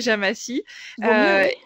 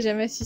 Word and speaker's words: Jamacy: toi qui animais le compte de Jo Atelier Jamassi.